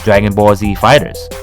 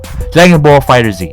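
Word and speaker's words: Dragon Ball FighterZ: plays this next game Dragon Ball Z fighters and oh man Dragon Ball Z fighters Oh Jackie fighter Z I don't know Dragon Ball fighter Z okay that's the right way to say anyway this game has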